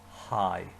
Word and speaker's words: haghaidh: one 3 times because that word after le is a long word, but it actually has a lot of silent letters. All it says is hi. Cared ba waithlat a dhéanamh le haghaidh an dinner.